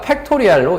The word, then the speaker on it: 팩토리얼: 무슨 말이냐면 일단 n 계승이라고 해서 어, n 느낌표 이렇게 하면 안 돼. 알겠지? 이걸 느낌표라고 읽지 않고요. 뭐라고 해야 됩니까? 팩토리얼로 읽어 주시면 돼요.